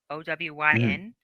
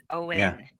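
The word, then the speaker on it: Owyn: their emails um because I always pronounce it on o Wyn but it's Owen why and only what you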